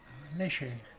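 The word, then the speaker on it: Lecher: Léchère. Ça Léchère. s'écrit l'équerre, mais ça se prononce léchère.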